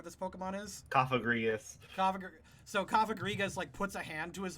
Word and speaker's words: Cofagrigus: So, this Cofagrigus, that is how you pronounce that, right?